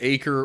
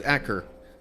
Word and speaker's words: Acre: attempting to pronounce it I had been thinking either acre or Acra turns out it was akur um I mean I